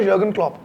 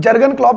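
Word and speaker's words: Jürgen Klopp: था मैनेजर हुआ था यर्गन क्लॉप। यर्गन क्लॉप। अब हां जर्मन थे तो उनका नाम जर्गन क्लॉप लिखा जाता है। लेकिन यर्गन क्लब प्रोनाउंस करते हैं।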